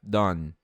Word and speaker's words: done: E aqui a regra permanece a mesma. O E não vai ser falado. Então have done.